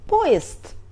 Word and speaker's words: поезд: We write поезд but we pronunciate .